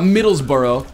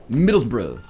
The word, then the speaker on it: Middlesbrough: It's not Middlesbrough, it's Middlesbrough.